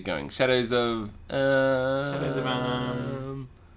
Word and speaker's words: Amn: Shadows of Am. Well, it's spelled Amna. But it's not pronounced Amna.